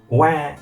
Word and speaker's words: は: We have sorry, mean that, and we have the hiragana ha here, but it's actually pronounced wa in this situation, and totemo is to express something that is very or exceedingly.